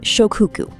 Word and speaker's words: Shokuiku: This brings us to the third Japanese concept, which is called Shokuiku. Pronounced Sho-ku-i-ku.